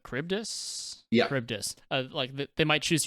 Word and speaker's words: Charybdis: How do you pronounce this thing's name? Charybdis.